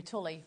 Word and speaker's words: tulle: Really love tulle. Tulle. Oh. However you pronounce it. If you were from Yorkshire, it'd be Tully, but Tully.